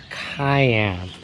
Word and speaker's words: Cayenne: loaner uh 2019 porsche cayenne and say it like how you would say the hot pepper but since it's a